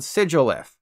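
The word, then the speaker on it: Sigilyph: of sigil and glyph so obviously it's called sigilith I'll never forgive myself for this one and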